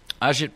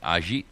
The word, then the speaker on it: Ajit: And Ajit Pai, or P-A-I, I'm not quite sure how to pronounce his name. It's A-G-I-T, so I'm pronouncing it Ajit, which I believe is fairly accurate, and P-A-I is his last name.